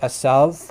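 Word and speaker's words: עשו: from the hebrew which in hebrew it's pronounced asav which in modern hebrew asav but in biblical times it probably would have had very similar pronunciation to arabic um you know the the kind of like the guttural first letter the ira sound which is kind of hard to produce um but it's a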